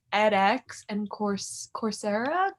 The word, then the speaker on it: Coursera: webinars is what you like EDX and course Coursera course Sarah thank you how it's pronounced but they give free classes and it